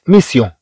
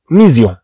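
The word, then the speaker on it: mission: إذا كما تلاحظ هنا، كما نلاحظ هنا لو حذفنا اس من هنا سنقرأها ميزيون، ميزيون، ولكن في اللغة الفرنسية طبعا المهمة نطقها هو ميسيون وليس ميزيون.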